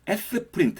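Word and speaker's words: Sprint: 그러냐면 이럴 때는 이제 s 프린트 라는 것을 사용해야 됩니다 s 프린트 라고 읽으면 되거든요 스프린트 를 사용해 가지고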